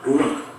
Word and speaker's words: ruach: Kata dalam bahasa Ibrani-nya adalah ruach. Ruach? Ya, benar. Tenggorokan kita harus benar-benar bersih di akhir pengucapan.